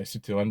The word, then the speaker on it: Citroën: DS, unlike Citroën, I should say Citroën because that's actually how you're supposed to pronounce it.